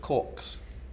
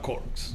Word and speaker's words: cork: Pronunciation is important on that word. We're going to talk about corks. Corks. Corks. Please emphasize the R.